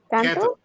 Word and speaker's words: Canto: Canto? Yeah, there you go. Canto. Yeah, I was like, why do you say it like that? Because that's what canto is. Canto means sing in Spanish.